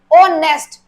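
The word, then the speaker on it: honest: फिर, कॉन्सोनेंट में आएगा, बट साउंड देखो यहां पर तो एच साइलेंट है, ऑनेस्ट, तो क्या आना चाहिए दर्शिया, एन, क्योंकि यहां पर हमारा एच साइलेंट है, बेशक ये कॉन्सोनेंट है, बट साउंड हमारा वोवल का आ रहा है, तो इसमें किसका यूज होगा, एन।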